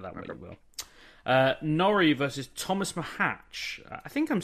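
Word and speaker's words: Tomáš Macháč: I remember feedback we need to get our pronunciations I'm about to listen to it live I was right it's Thomas mahatch and I'll tell you why I know that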